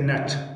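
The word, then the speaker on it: gnat: بل جي هر کله چې د جي نه وروسته ام یا ان راسي جي نه تلفظ کیږي.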